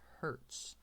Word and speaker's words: Hertz: is also known as Hertz okay like the car company that's how it's pronounced all right but the unit is Hertz or 1 over second